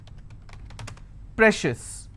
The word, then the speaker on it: precious: Precious. How many syllables again? Precious. I will stress on pre.